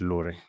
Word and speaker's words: LORE: The word lore it's pronounced lur it's a satswana word meaning uh branch I